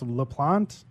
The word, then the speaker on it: Laplante: So in the studio today, I have Kevin Speck, my co-host, and we have Robert, I'm pronouncing this, LaPlante. Is that right? You got it.